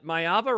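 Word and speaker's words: Maiava: I watched a little of Mayava, right? That's how it's pronounced.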